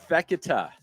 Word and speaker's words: Fekete: Is it Fekete?